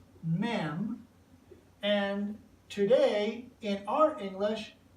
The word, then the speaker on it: Mem: men and the pictograph looks like this it's pronounced mem and today in our English it is the